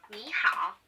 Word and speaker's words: 你好: This is how you say hello in Chinese. Try it. 你好.